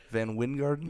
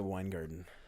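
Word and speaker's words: VanWyngarden: I watched YouTube videos and they all pronounced it Weingarten.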